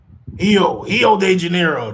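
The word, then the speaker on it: Rio de Janeiro: Io de Janeiro. That's how you got to pronounce it. H's or the the R sound like H's, but yeah, I'm in Rio.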